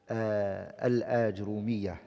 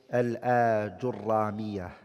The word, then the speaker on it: Al-Ajrumiyyah: Today inshallah ta'ala we're going to start the explanation of the book Al-Ajrumiyyah, and some scholars they call it Al-Ajurramiyah. Both ways is correct to pronounce it.